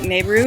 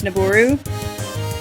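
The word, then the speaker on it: Nabooru: of it wrong like uh I used to pronounce the name of the sage nebaru like nebu and it's naboru I used to say de tree and it's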